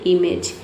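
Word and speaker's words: image: इसलिए यहां पे जी का प्रोनंसिएशन क्या हो रहा है? ज हो रहा है। ठीक है? इ साइलेंट है क्योंकि वर्ड के अंत में आया है इमेज।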